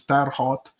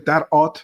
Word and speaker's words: Terre Haute: In French, it's Terre Haute, or actually Terre Haute, because they don't pronounce the H like you sometimes in US, came forward.